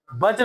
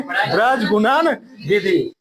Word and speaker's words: ब्रज गुणन विधि: वज्र नहीं बोल देंगे, ठीक है। क्या बोलेंगे? ब्रज गुणन विधि। थोड़ा सा सही से बोलेंगे, उच्चारण करेंगे।